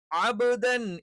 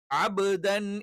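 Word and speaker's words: عَبْدًا: എന്നൊന്നും പറയാൻ പാടില്ല യൻഹ അബദൻ ഇവല്ല അബദൻ ഇ എന്നുള്ള ഉച്ചാരണം കൃത്യമായിട്ട് വേണം അബ്ദൻ ഇവല്ല അബ്ദൻ നേരത്തെ നമ്മൾ പറഞ്ഞ ബജദ അതിൽ പെട്ടതാണ് അതുകൊണ്ട്തന്നെ അബ്ദൻ എന്ന് പറയാൻ പറ്റില്ല അബദൻ ഇവല്ല അബദൻ ഇവ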